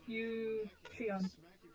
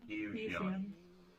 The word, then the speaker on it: Eucheon: Well, Oh, I'll just call him Leon because I can't pronounce his name. repeat after me, please. So, E E. U Eucheon. Xion. Yeah. Eucheon.